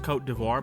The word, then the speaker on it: Côte d'Ivoire: Also sent uh I learned it's pronounced Côte d'Ivoire, by the way, not Côte d' Just say Ivory Coast, bro.